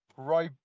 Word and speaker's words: Ribena: Pronounce that word that starts with an R again. Ribena?